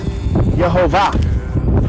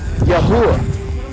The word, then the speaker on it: Yehovah: if I'm not mistaken, the way to pronounce the word is Yehovah. And there's an emphasis on the Va. There's no Va in the Hebrew. Even if there's no Va in the Hebrew. If you're trying to pronounce the V as a W because you don't think it should be a V, it would still be Yehovah. It's not Yahuwah.